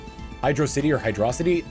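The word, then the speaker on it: Hydrocity: hydr City or hydrosity they're two words so it's hydroc City like if you look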